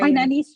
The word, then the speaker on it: Hainanese: Is it Hainan Hainanese Hainanese chicken rice?